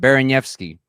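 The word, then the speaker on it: Baraniewski: At least this is how you said it the first time. Baranievsky. That's right. That's how you say it.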